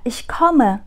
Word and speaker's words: ich komme: Nhưng mà khi mà chúng ta nói là ich komme, không nói là gleich, tôi đến ngay đây, mà chúng ta chỉ nói là tôi đang đến đây, ich komme, thì các bạn phải phát âm e nhé.